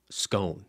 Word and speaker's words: scone: How do you pronounce scone? You gosh darn blueberry scone? Scone? How would I pronounce? Rhyme with bone or rhymes with gone?